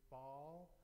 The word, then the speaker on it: Baal: And in order to promote her god named, some of you know this god as Baal, it is Baal, B-A-A-L, that's how we spell it in English.